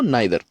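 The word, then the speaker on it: neither: को नहीं बताना तो नाइदर, या नीदर भी बोलते हैं इसको, नाइदर या नीदर आप जो चाहे वो प्रोनाउंस करते हैं।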